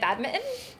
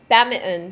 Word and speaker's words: badminton: Badminton. What do you say? Badminton. Badminton. Okay, I don't say it like that. Badminton. Badminton. You're silencing the I and the T.